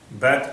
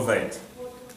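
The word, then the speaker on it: בית: you say that there are 2 pronunciations, right? Bet or Veit.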